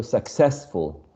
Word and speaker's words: successful: yeah full okay so successful successful which is the most prominent syllable of all the second a second if we take the suffix